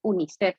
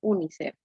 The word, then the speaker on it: UNICEF: Ejemplo, miren, UNICEF. UNICEF es un acrónimo, miren. Es una sigla que se considera como un acrónimo porque se lee como una palabra, ¿verdad? UNICEF.